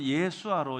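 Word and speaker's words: ישוע: 히브리어는 예수아로 이렇게 발음할 수 있습니다.이 이 예수라는 이름은 그 당시 이스라엘 사회 남자들의 평범한 이름이었습니다.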